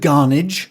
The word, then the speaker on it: Garnage: And this is the story of the Reverend Garnage, which is like carnage but with a G.